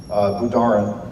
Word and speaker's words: Budarin: Budarin, B-U-D-A-R-E-N.